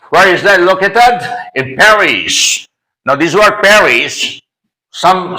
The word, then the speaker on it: Paris: use Perry not Paris you may also pronounce Perry if you want to follow the French linguistic rule actually let me just